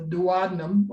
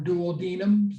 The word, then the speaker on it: duodenum: That's beyond the small intestine, the duodenum or duodenum, some may pronounce it, and it goes into the ileum.